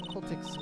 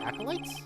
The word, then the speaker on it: acolytes: This is what all occultics wear. In my inform, you could say. Occultic? Acolytes? Oh, acolytes. That's what it's pronounced.